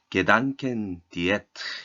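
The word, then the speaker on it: Gedankendiät: 여기서 생각 다이어트라는 말은 독일어로는 이렇게 게단켄 디에트 이렇게 발음하는 단어인데 생각을 다이어트 해봐라 라는 용어를 몇 차례에 걸쳐서 강조를 하시더라고요.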